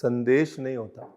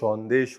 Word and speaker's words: Sandesh: See the first thing is it is not pronounced "sandesh" "sandesh" comes in a letter ok what is eaten is pronounced "shondesh" ok so to make Sandesh you will need